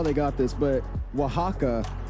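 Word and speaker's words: Oaxaca: they got this but Wajaka uh is the actual way to say it.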